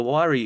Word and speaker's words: Huayra: hour 8 Pagani Huayra 1.4 million dollars the wirey is equally as famous for its odd sounding name as it is for its face-melting performance named after the Incan God of winds the wiry pronounced whare boasts an AMG sourced 6.0 liter v12 with